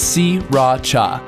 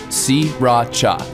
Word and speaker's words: Sriracha: off the pronunciation it's si Racha don't bother paying attention to that first R si Racha three separate syllables okay you try si Racha alright we're on the